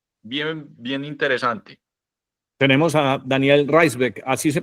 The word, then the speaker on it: Raisbeck: tenemos a Daniel Reisbeck, así se pronuncia Daniel, ¿correcto?